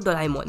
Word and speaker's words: Doraemon: इसको डोरेमोन बोलो या डोरेमोन, दोनों ही इसका प्रोनाउंसिएशन है, लेकिन जो जापानीज प्रोनाउंसिएशन है वो डोरेमोन है।